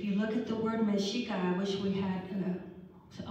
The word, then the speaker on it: Mexica: And so, if you look at the word Mexica, I wish we had a whiteboard here. The CH in the Spanish, in the Nahuatl is pronounced like Mexicano.